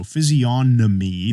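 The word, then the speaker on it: physiognomy: and then g-n-o-m-y so physionomy g is silent what does that mean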